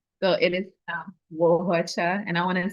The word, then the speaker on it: Nwaohuocha: name is Abigail Oni Wohacha, and I am the founder of Oni. Yes, so it's pronounced Wohacha, but it is spelled with an N. So it is Wohacha, and I want to say Atisan to all my yes.